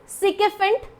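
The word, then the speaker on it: sycophant: The correct pronunciation is सिकेफेंट।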